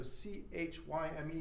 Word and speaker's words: chyme: product of your stomach's digestive role is called chyme so CH yme is pronounced chyme and you don't make 3 mils